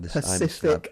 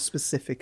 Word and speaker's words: Pacific: It's like Pacific Ocean, not specific ocean.